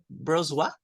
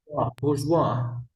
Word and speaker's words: bourgeois: Bourgeois? bourgeois. Bourgeois. Yeah, this one, because we don't pronounce the S.